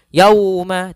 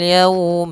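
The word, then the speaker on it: يَوْمَ: pada lafal Lau yaitu Itu ada bacaan Lin yaitu lembut dalam pelafalannya dan tidak boleh dihentakkan tidak boleh Yauma tidak tapi dia lembut saja yalum Bima kemudian padafal Bima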